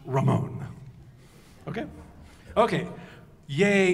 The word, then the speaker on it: Ramón: Okay, and the name is pronounced Ramón.